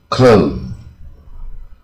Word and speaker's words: clothes: s 去掉啊，变成一 clothes 啊，这个字啊音很